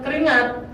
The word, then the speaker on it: keringat: Kerja dua, ya beda dengan keringat. Anda baca gimana? Keringat kata dasar. Keringat, bukan kan? Bukan ingat salah.